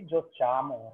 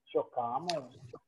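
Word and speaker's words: giochiamo: Okay, so what I said, when it is ending with C-A-R-E as Jokare, okay, we add an additional H just to retain the pronunciation, right? Okay. Not run the revision. Very bad. Okay, good. It will be an additional H will get added to retain the pronunciation. Otherwise, it will be Jochamo, right? Yes. When we add H, it becomes Chokame.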